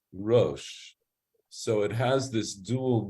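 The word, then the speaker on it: ראש: That is, it's saying it's written in a certain way, so that would indicate Rash, but we pronounce it Rosh, so it has this dual meaning.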